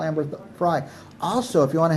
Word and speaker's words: Frey: And Amber Frey's, do I say it right, Frey?